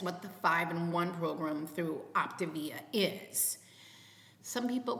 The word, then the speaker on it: Optavia: Now, Optavia, and yes, I've looked into this. That's how you pronounce it. Some people pronounce it Optavia, but it's Optavia is how the reps call it.